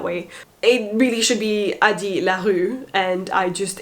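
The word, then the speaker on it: Addie LaRue: it really should be adi larue and i just it's so weird to pronounce it the french way when i know the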